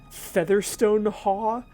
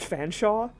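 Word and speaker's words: Featherstonehaugh: her name was like it's it's it's a featherstone ha which is actually pronounced fanshawe and like where where does all the rest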